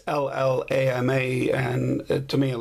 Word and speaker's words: Llama: llama micromax uh now some people pronounce it yama but uh i'm not spanish and it's llama and it to me